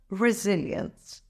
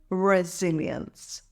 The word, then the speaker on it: resilience: financially it's pronounced as resilience here's the breakdown resil ends emphasize the second syllable zil say it with me resilience resilience last but not